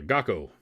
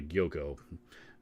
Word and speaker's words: Gakko: But pedal board's a Gakko, not a Gyoko. It's an Amazon brand, regardless of how you spell it or pronounce it.